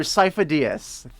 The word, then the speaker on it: Sifo-Dyas: I don't know how to pronounce it, but there's the name. Yes, Master Sifo-Dyas.